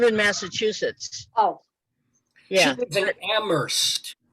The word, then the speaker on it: Amherst: massachusetts oh yeah they're amherst it's not that's right she does okay ambrose the h is silent yeah okay i know i used to date a guy who went to amherst he was very big